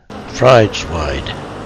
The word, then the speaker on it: Frideswide: I have taken a survey of the inhabitants of Oxford of varying social classes, and they all pronounced it Frideswide. A similar survey of graduates of Oxford returned the same answer. Doesn't sound right to me, and I will stick to my own version of Frideswide.